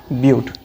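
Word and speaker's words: but: 4 carbon के लिए हम क्या वर्ड यूज इस्तेमाल करेंगे, ब्यूट। 4 कार्बन्स के लिए the word is used, that is ब्यूट। इसको बट मत पढ़ना, ठीक है, दैट प्रोनाउंस इज ब्यूट।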